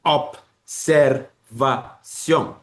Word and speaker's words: observation: Mais en anglais, l'assimilation est plutôt progressive. Le B là, qui est sonore, donne sa sonorité au S et ça devient Z. C'est pour ça que tu dis observation.